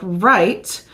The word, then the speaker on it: right: use sight word like right Where It's tricky because it's the silent W but you can teach when they're learning this sight word that WR goes together to say so right because you know that